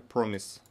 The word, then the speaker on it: promise: Promise. Первый слог под ударением.